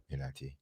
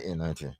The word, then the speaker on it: NIT: NIT. That's how you say it. Yeah. Oh, I won a championship. Oh, you did? NIT.